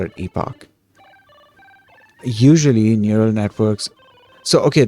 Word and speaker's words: epoch: English and okay so it's not Epoch it's Epoch well let me let